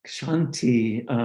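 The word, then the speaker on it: kshanti: that's really important so another aspect of it's pronounced shanti the sanskrit word tolerance or patience is the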